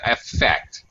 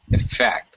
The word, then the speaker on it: effect: it affected us yeah i think it is one of those um two-syllable nouns which as a noun it has first syllable stress as a verb it has second syllable stress the problem is it's